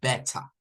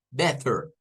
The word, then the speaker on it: better: la misma para esta Entonces si escuchá demos a un británico el británico vendría y esta palabra nos las va a decir como Beta It's Beta entonces tres pronunciaciones diferentes la standar better la americana better y la británica heta serían tres pronunciaciones diferentes